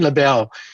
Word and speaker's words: Lebel: pronounce my name because for french canadian i'm jealous and for angle canadian i'm awful often labelle and around christmas time